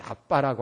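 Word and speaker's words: אבא: 아빠라고 하는 말은 원문에 그래서 아람어로이 아빠라고 하는 말은 우리 한국의 아빠라는 말과 신기하게도 발음이 같아요 그래서 하나님을 아빠 근데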